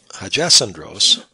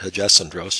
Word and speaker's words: Hagesandros: Here we see another example, and the pronunciation of this name, Hagesandros, follows Greek pronunciation rules, but it isn't the way I'd like to pronounce it. I'll call it Hagesandros just to follow those rules.